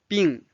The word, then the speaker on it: 病: Now let's study 病。病 can be a noun, means disease or illness, or it can be a verb, means to be sick or to be ill. And it's the fourth tone, 病 Now let's read this conversation.